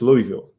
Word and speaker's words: Louisville: city fc i said it right right it's louisville so yeah they just made an official announcement